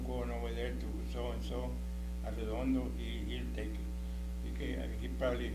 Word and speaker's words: Arredondo: Now, if you split it in syllables, which is A-R-R-E, Arredondo, Arredondo.